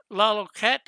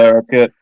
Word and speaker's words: Larroquette: John Laloquette, or I'm not sure how you pronounce his name, is John in it. Larroquette.